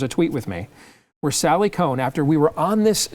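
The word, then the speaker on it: Sally Kohn: And he has me on with Sally, I think it's Sally Cohn. Is that how it's pronounced?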